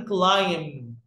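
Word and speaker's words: climb: أول فعل عندي كلايم. كلايم البي هنا سايلنت دايما الام لما بيجي وراها بي خفيفة مش بنطق البي الخفيفة.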